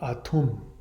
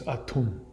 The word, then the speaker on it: Atum: Some people pronounce it Adam, but I think it's Atum.